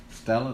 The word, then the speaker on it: stela: On that stela. Yeah. Stella, that's how it's pronounced? Yeah.